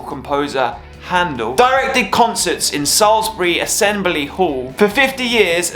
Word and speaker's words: Salisbury: Salisbury yes that's right it's pronounced Salisbury not Sally's Berry Salisbury English Salisbury is a cathedral city in